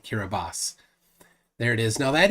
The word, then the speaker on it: Kiribati: boss hear a boss they say not Kiribati kiribas there it is now